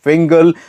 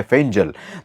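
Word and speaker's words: Fengal: landfall करने वाला है साइक्लोन का नाम है फिंगल लेकिन इसका जो उच्चारण बताया गया है वो है फजल तो इंग्लिश में एफ ई एन जी ए एल तो इसे आमतौर पर हम फंगल कहते हैं लेकिन इसका जो प्रोनंसिएशन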